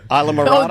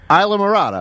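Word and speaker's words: Islamorada: Isle of Oh, Marada. just that word? Okay. Well, how do you say it? Isla Morada. Isle of Marada? No, Isla. Isla. Isla Yeah. Marada.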